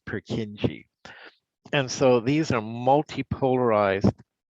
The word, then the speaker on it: Purkinje: sometimes they spell it k-i-n-j-e but it's still pronounced purkinje and so these are multi-polarized multipolar neurons it